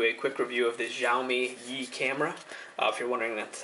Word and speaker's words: Xiaomi Yi: going to do a quick review of this xiaomi ye camera if you're wondering that's how you pronounce it jiai um so real quick unboxing